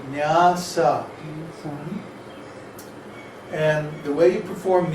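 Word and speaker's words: nyāsa: After you do your tilak and achama, then it's called nyasa, N-Y-A-S-A, Oh, I spelled it right. nyasa, with two long A's.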